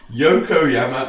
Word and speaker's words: Ayumu Yokoyama: Yokoyama. Ayumu Yokoyama. Jesus Christ, man. It's going to be a tongue twister this season. William Williamson to Hansen, out to Yakoyama, to Miyoshi, to Sunko Peck.